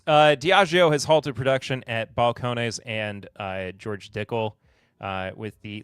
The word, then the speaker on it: Balcones: Now, I think it's pronounced Balcones. I always say Balcones.